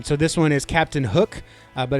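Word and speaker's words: Huk: And, um, so this one is Captain Hook, uh, but it's spelled H U K.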